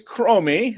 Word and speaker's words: Kramer: hands together for kramer what's going on man i apologize if i butchered your last name by the way uh yeah it's it's chromey like on the fender of your car well used to be